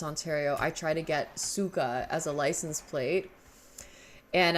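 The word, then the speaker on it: сука: see that's the thing it's spelled c y Ka because that's how it would be spelled in Russian but pronounced Suka I want to be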